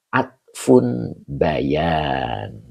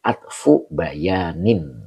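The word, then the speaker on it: عطف بيان: Nah, di sini baru di sini ada penjelasan fairoma atfun bayan. Nah, ini yang akan saya jelaskan. Atfu bukan atfun ya. Ini diidofakan jadi atfu bayanin. Begitu cara bacanya.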